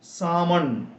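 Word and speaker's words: salmon: ആമണ് ഇതുപോലെ മറ്റൊരു വാക്കാണ് എസ് എഎൽ എം ഒ എൻ സാമൺ ഇവിടെ എൽ ഉച്ചരിക്കാൻ പാടില്ല സാമൺ എന്ന് പറഞ്ഞാൽ മതി സാമൺ എന്ന് പറഞ്ഞാൽ ഒരുതരം മീനിന്റെ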